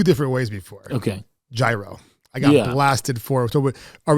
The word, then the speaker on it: gyro: But I'm supposedly saying gyro incorrectly. I've been saying gyro, Americanized. I feel like it's the American word for it. Right. So what's the proper way to say it? Well, can we blame anyone? I mean, it's spelled with a G, you know. There's a Y in there. Yeah, it's Y, you know, gyro.